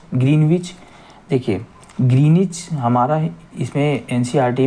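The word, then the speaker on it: Greenwich: सभी देशों ने निश्चय किया कि ग्रीनविच, देखिए ग्रीनिच हमारा इसमें एनसीईआरटी में वर्ड ग्रीनिच दिया हुआ है, हम ग्रीनविच भी बोलते हैं। जहाँ ब्रिटिश, वैसे तो साइलेंट रहता है डब्लू हमारा, तो ग्रीनिच ही बोलते हैं, लेकिन जो भी आप बोलिए।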